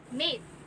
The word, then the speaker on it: mate: And if we add the letter E, the pronunciation became mate. Notice how the end that is silent changes the vowel sound to the long A.